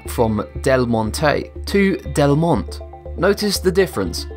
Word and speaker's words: Del Monte: When it comes to pronouncing delmon, a great number of people split it into two syllables instead of three. This changes the pronunciation from delmonte to delmont.